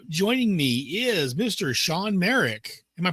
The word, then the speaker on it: Marek: Sean Merik. Am I pronouncing that correctly?